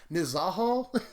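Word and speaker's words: Nezahal: is a Haho ball I still can't always pronounce the name right nazar Hall is how you say it is absolutely ridiculous you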